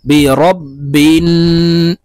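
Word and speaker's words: بِرَبِّ: ওয়াও পেশ উইনকে হলকের মধ্যখান থেকে চাপ দিয়ে উচ্চারণ করতে হবে কুল আউ জাল পেশ জু বা জের বি র বা জবর রব আমরা অনেকেই বিরাব রাব এভাবে পড়ে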